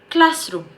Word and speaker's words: classroom: we have room so it becomes classroom okay stress on class next we have tooth